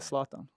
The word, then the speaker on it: Zlatan: Zlatan.